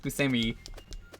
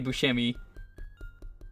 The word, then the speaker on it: Buscemi: we're gonna bring it up that it's actually pronounced busami he hates that it when people say Buscemi John Favreau this came out a year after